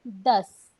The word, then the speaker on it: दस: 10 se dice das.